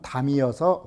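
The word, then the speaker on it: 樂: 즐길 탐자지만 예적의 음은 담이어서 화락차담이라고 읽는 것입니다.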